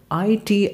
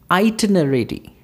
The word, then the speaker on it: itinerary: And next line which we have is number 6, I-T-I-N-E-R-A-R-Y. Itinerary. Itinerary. Itinerary. So it's really sound is there whenever you're going to pronounce this.